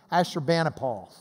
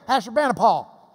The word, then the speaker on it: Ashurbanipal: In Lubbock, we would say King Ashurbanipal.